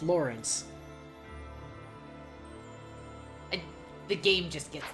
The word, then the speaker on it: Lorenz: would be pronounced like Lorenz how it's actually pronounced Lawrence I the game just